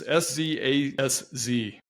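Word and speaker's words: Szasz: I think I'm pronouncing his name correctly. It's Szaz.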